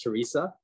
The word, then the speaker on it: Theresa: you um so theresa you have that uh h in your name uh it it it it throws me off a little bit but i know it's still pronounced theresa correct that's correct so so